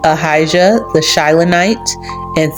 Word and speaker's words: Ahijah: But as we all know, the J was not on the tip of nobody's lips back in the day, so his name actually would be pronounced Ahijah.